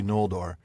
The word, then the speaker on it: Noldor: Because that would be Noldor. I mean, that's how Christopher Tolkien pronounces it. That's how Christopher Tolkien says it.